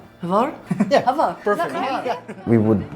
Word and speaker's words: Hvar: We went to an island, Hvar. It's pronounced Hvar. Hvar?